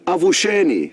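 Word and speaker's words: avuxeni: the same tribe, is avusheni, spelled A-V-U-X-E-N-I. So the X's are pronounced as sh. So avshen means good morning.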